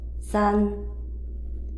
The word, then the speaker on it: 三: The third character, first tone, san, san, san.